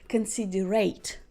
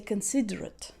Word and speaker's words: considerate: this words correctly because most people will try to pronounce this word can see the rate now if it's an adjective the accent goes to the beginning and is a considerate considerate okay she is very considerate